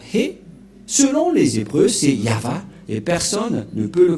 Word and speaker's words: Yahvah: au début, alors que selon les Hébreux, ce terme se prononce ya, Y-A-H, et lorsqu'on va le regrouper avec le va, ça donne, qu'est-ce que ça donne? Nous allons écrire en jaune ya, Yod et He, et va, V-A-H. Voilà le nom de Yahva prononcé par le grand-père Moshe, Ya, Yahva.